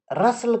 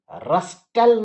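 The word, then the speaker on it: rustle: रसल कहते हैं बच्चों सरसर की आवाज। हवा जब चलती है ना तो पत्ते खड़खड़ाते हैं, तो उस खड़खड़ाहट को रस्टल नहीं करके रसल कह दीजिए, टी साइलेंट है।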